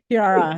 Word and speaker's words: Chiara: Chiara, yes, said it right.